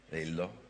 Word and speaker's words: Lhyrhlo: Lillo Come'è scritto scusa hai scritto l h Y r h l o 13 e si pronuncia Lillo Ah come me come